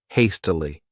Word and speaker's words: hastily: This word has 3 syllables, and the stress is on that first syllable, hastily.